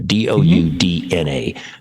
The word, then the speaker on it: Doudna: Discover article, Jennifer, and I hope I'm pronouncing it correctly, Doudna, I think it's pronounced, Doudna, Doudna, a groundbreaking biochemist born 1964.